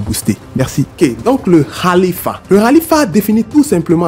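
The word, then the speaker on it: خليفة: Le califat est un mot arabe qui se prononce khalifa.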